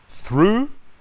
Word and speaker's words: through: Through, like in to.